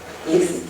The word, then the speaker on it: Eileen: Is that the correct pronunciation of your name? Eileen, okay.